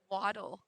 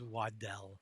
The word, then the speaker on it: Waddell: Waddle. Is that Waddell or Waddle? It's Waddell.